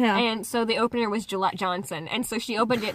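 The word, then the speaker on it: Jillette Johnson: so the opener was Gillette Johnson and so she opened it by saying my name is July like the razor the best a man can get but with a J yeah I think I'm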